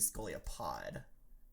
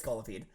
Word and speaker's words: Scolipede: the lessons my favorite Pokemon are Psyduck and Scolipede that's a Pokemon scolopes is that for some I thinking it's supposed to be scolia pod maybe I'm WR that doesn't sound real yes